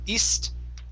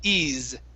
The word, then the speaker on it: eased: the word eased okay the s in this word is a voiced sound so instead of east it's eased okay good she eased the